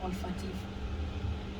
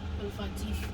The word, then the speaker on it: olfactif: La réponse est les nerfs olfactifs. Nerf Olfactifs. olfactif. Équipe B, vous avez un avis contraire? C'est la bonne réponse? Il faut dire alors olfactif alors. Voilà, olfactif. C'est la bonne prononciation.